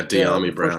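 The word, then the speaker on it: Dyami Brown: De'Ami Brown, am I pronouncing that right? Yeah, De'Ami Brown, yeah.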